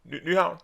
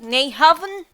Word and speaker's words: Nyhavn: Nyhavn. Newham, which is the spelling of that one is I think Y Nyhavn. A. Yeah. It's like Neyhaven, but when you pronounce it Johan, how come it's like that?